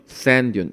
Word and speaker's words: sand dune: 모래 언덕인데 이렇게 두 번 똑같은 자음이 나오게 되면 sand dune. 요 부분이 하나가 이제 발음이 잘 안 되죠. sand dune 이렇게 발음이 된다라든지 아니면 이런 부분이 어떻게 될까요?